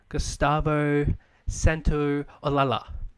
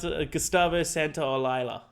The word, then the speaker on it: Gustavo Santaolalla: I believe this is how you say it. I'm hoping that's how you say it. Not how you say it. Not at all? I was waiting for that. It's got Gustavo Santaolalla.